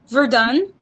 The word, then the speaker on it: Verdun: we just started but in french we say so we don't pronounce the n at the end oh mercy um and